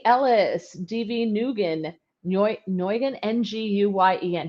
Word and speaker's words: Nguyen: Nguyen, Nguyen, N-G-U-Y-E-N. How do you pronounce that? You're an immigration attorney, N-G-U-Y-E-N. I would say Nguyen. Nguyen, okay. Nguyen. All right, and the N is silent.